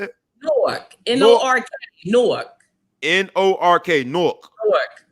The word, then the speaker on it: Newark: is one of the newark uh new work not new york newark new jersey pop